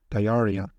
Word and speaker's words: diarrhea: X sometimes pronounced Z, for example, xiphoid, and RH sometimes pronounced R, diarrhea, which is a gastrointestinal disease.